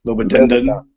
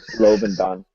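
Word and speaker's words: Lobendahn: Lobodendon. Yeah, Lobodon. There's like an extra syllable I always mess up. It's a great name, by the way, Lobodon.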